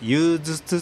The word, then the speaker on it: 夕星: に収めました夕方の星と書いて憂鬱と読みますはいえー金星の